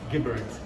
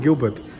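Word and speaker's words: Geberit: How do you pronounce this name? Gibbert. Gibbert. Gibbert. From Swiss. I think I was close last Gibbert, time. Gibbert, yeah. I called it Gilbert.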